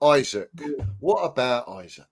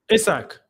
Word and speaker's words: Isak: Isak. Newcastle. Isak. Sorry, Isak. Is that how you say it? Isak, not Isaac? Isak. Yeah. I said Isaac at first. Apparently it's Isak, but Isak is decent.